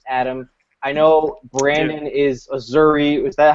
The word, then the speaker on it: Azzurri: I know Brandon is Azzurri. Is that how you say it? Just say it. Yeah, that's how you say it. Okay, Azzurri, Italy, the most trash team that doesn't really